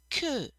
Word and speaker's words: que: and ku you want to make sure you pronounce ki ku so in this sentence here section it's a